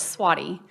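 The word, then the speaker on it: Svaty: and then of course swatty which the v sounds like a w it's like a fly swatter so anyway i mean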